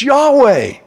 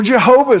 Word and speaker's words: Yahweh: it's why H wh it's Yahweh or Jehovah some of the older versions say we don't even know how to pronounce it because they took the vows out and all we got is YH wh but it basically means